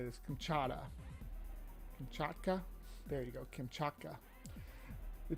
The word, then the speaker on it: Kamchatka: come come how do you say this kamchata Kamchatka there you go kamchaka the gymkhaka brown bear